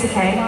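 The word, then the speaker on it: Takei: correct you very quick is it te yes cuz he always says it's deay rhymes with gay that's so you will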